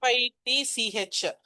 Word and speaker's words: Fitch: FITCH. CH is silent, so fit. RALPH, Ralph Fitch. RALPH, Ralph. FITCH, Fitch. அவருதான் அக்பர் பீரியட்ல வந்த Englishman and அவருதான் Pioneer of Englishman R இங்கிலீஷ்மேனின் முன்னோடி என்று அழைக்கப்பட்டவர்.